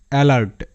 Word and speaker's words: alert: শব্দ যেমন অ্যালার্ট, ALERT, অ্যালার্ট। দেখো এখানে একটা বিষয়ে সবাই হয়তো লক্ষ্য করছো যে এখানে ভিসিভি রুল কাজ করছে, মানে এ এর পর একটা কনসোনেন্ট এবং তারপর আবারও একটি ভাওয়েল লেটার আছে, তার মানে এখানে এ এর এ সাউন্ড হওয়ার কথা, কিন্তু তারপরেও এখানে এ আ হিসেবে উচ্চারিত হচ্ছে, কারণ নিয়মটাই বলছে শব্দের শুরুতে এ সাধারণত আ হিসেবে উচ্চারিত হয়, অ্যালার্ট।